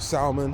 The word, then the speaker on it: Salman: um yeah we got leah salmon as well um or salman i think i've been saying her name wrong but salman yeah big up leah